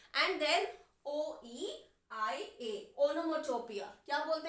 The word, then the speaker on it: onomatopoeia: इट इज ओनोमोटोपिया. अब इसकी spelling हम कैसे याद रखते हैं?